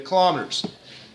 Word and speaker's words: kilometer: The kilometers. Kilometer is the correct pronunciation, by the way. I went 1 year saying kilometer in class, and I felt goofy every time I said it, so I stopped.